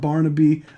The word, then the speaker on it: Barnaby: It's pronounced Barnaby, but in upper middle class accent and in a raised voice.